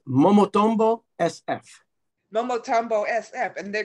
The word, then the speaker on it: Momotombo: Now, Leo Rosales and his new band, I'll let him pronounce it. It's Momotombo SF.